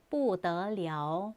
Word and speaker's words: 不得了: 더를 사용하는 경우에 또 다른 단어 不得了, 不行. 不得了에서 여기 발음이 了인 거 주의해 주세요.